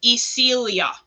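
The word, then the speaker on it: Isilya: position which is the moon day and it's pronounced isilia still young we now go down to the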